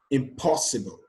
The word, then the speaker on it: impossible: option here is b for words with four or five syllable words that end with abl e or ibl e the stress is placed on the front syllable from the end but if that word has a prefix the syllable after the prefix is stressed that makes this very